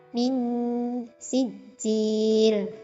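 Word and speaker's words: من سجيل: syafawi, itu ada bacaan ming sijil. Nah, ini hukum bacaannya ikhfa hakiki. Nah, sebabnya ada nun sukun bertemu dengan huruf sin, yaitu cara bacanya dibaca samar-samar antara izhar dan idgham. Min sijil.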